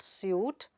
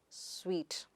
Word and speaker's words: suite: It is not soot, but sweet.